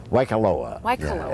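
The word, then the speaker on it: Waikoloa: we were talking about your how do you pronounce that why caloa waikaloa it's at the hyatt regency hotel in waikaloa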